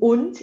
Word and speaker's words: und: Aí a gente tem o und de i, né? Você vê que o und é und, aber das d wird als t ausgesprochen, ja?